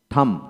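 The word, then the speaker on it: thumb: আসেন টি এইচ ইউ এম থাম থাম বি হবে না থাম থাম তারপরে এল আই এম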